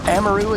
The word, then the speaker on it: Amaru: We see an Amaru here being played, or Amaru as she's technically pronounced.